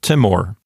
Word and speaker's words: timor: Timor is a two-syllable word, so there's not much to talk about. In a two-syllable word, the accent goes on the first syllable because we don't put the accent on the final syllable of a Latin word. So Timor.